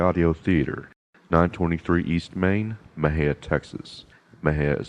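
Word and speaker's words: Mexia: sent to MJ audio theater 923 East Main Mejia Texas my hair is spelled m-e-x-i-a the ZIP code 7667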